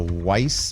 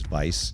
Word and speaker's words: Weiss: Up next, we've got the the Weiss or the Vice limiter. And there's also the I think the proper way to pronounce it is Vice.